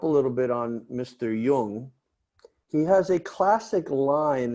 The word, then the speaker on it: Jung: Jung. Yes, and if you don't speak German, or at least a little Yiddish, you might not pronounce that word correctly, like Carl Jung, That's right.